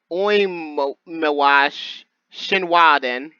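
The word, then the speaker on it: 大神神話伝: Since it's Mononobe-san, the title is pronounced Oimiwa Shinwaden.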